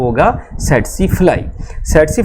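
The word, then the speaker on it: tsetse: सेट्सी फ्लाई को जब आप बोलेंगे तो यहाँ पर इसका जो पहला टी है आप इसको साइलेंट कर देंगे तो बड़ी आसानी से आप इसको याद रखेंगे। ये हो गया सेट्सी फ्लाई।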